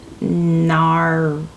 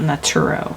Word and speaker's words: Naruto: It's Naruto, not Nuro. Naruto.